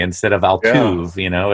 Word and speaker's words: Altuve: Yeah, or learning how to pronounce Altuve instead of Altuve.